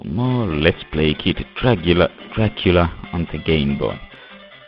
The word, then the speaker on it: Dracula: let's play kid drula Dracula on the Game Boy why do I keep pronouncing that as Dragula maybe I listen too much Rob Zombie right see